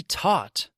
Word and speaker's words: taught: know this can be taught hm taught sounds like talk of course taught and talk I have taught about